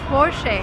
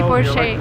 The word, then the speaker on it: Porsche: and the car is called forshay and that's the right way to pronounce it because it's a German name the stress goes to the first part of the word and we say fortunate will remember never say poor shape never never and don't say